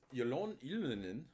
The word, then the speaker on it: Ylönen: Okay, Trizak mentions Ylönen, which, okay, that's how you actually say his name, but I mess it up every time.